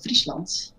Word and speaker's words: Friesland: Is it Friesland? Well, yeah, I suppose so. In English, in Dutch, we just say Friesland.